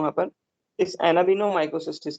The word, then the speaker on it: Anabaena: एनाबीना spelling ये है, ANABAENA, एनाबीना। और एक होती है माइक्रोसिस्टिस, माइक्रोसिस्टिस।